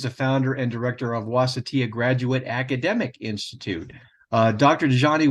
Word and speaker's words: Wasatia: Hopefully, did I pronounce that correctly? I just corrected it. That's okay. Wasatia.